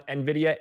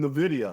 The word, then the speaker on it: Nvidia: So would you say you're bullish, bearish, or neutral on Nvidia? And maybe a sentiment signal for our audience is that I've actually started to pronounce Nvidia correctly.